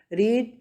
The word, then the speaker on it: read: Students यहाँ से देखिए, एक्शन वर्ब है रीड, रेड.